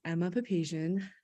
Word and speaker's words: Emma Papasian: from uh Gallatin Valley sunrise my name is Emma papasian and that's spelled e-m-m-a-p-a-p-a-s-i-a-n and I live in Bozeman